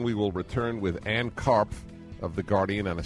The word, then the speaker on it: Karpf: It is by a British sociologist and columnist for The Guardian, Ann Karpf. So you know how to spell it now since none of the letters are silent.